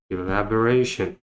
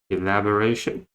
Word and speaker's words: elaboration: Right next we have elaboration. Elaboration. Again, the second schwa sound, E sound, elaboration. The first schwa sound, A sound, ration. The second sound of AR, and the stretch is at the third syllable, so the fourth syllable, elaboration.